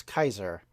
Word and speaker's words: Caesar: of The Classical period you would say what we now say as Caesar would be pronounce Kaiser because of course they had a hard c not a soft C the idea of the